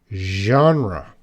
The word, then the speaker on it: genre: this French sound yeah so that's not an English sound that's a French sound so it's very difficult for English learners to pronounce yarn wrong John wrong you gotta make that year genre very difficult are you